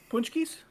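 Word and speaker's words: pączki: How do you How do you pronounce the paczikis? Punchkies. Punchkies. Really? That's how they pronounce it?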